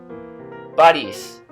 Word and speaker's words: Борись: The difference between palatalized consonants and non-palatalized consonants is very important in Russian. Von, von. Boris, Boris.